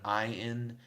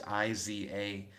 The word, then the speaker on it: Izanagi: You're getting me because you're going Inzanagi, but the way that it's spelled on the wiki is Izanagi.